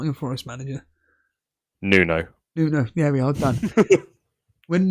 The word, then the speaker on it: Nuno: bloody name aspiro Santos how how would you pronounce his name again the not your Forest manager noo Nuno there we are done when Nuno took over